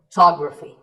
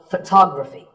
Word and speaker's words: photography: So the first syllable becomes ph, and the stress goes to the second syllable, photography. So photography.